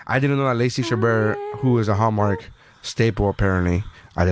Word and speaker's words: Chabert: yeah Lacey Chabert her its chambers or something like not chambers man I hear her her name pronounced all the time she's a hallmark movie star I in a stash the home of movie star it's not chambers because she was in